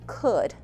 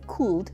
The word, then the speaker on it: could: When you say "could," the L is silent. We do not say "cood" , we say "could."